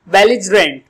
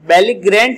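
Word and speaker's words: belligerent: बेलिजरेंट। बेलिजरेंट, बेलिग्रेंट नहीं बोलेंगे, बल्कि आप क्या बोलेंगे? बेलिजरेंट इसका प्रोनाउंसिएशन होगा, उच्चारण होगा।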